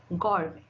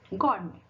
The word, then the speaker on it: gourmet: Now, letter T can also be little sneaky and also be silent, like it. In the example, what is the example? Ballet. How you pronounce this? Ballet. Soften. Soften. Gourmet. Gourmet.